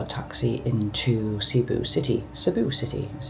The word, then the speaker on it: Cebu: Sibu City as it's pronounced properly.